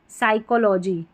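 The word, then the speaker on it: psychology: P silent है। यहां पर है जैसे कि साइकोलॉजी क्या है? साइकोलॉजी में।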